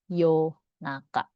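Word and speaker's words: 夜中: Nah, yang sering dipakai yoru tapi dia juga sering dibacanya yo juga nih. Kalau dia dipasangkan dengan kanji tengah ini dia jadi yo naka.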